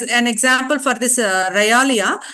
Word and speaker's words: realia: A L I A I checked for the pronunciation you call you can also check for the pronunciation it is um it is actually um one second yes Ralia that pronunciation for that is Ralia Ralia is nothing but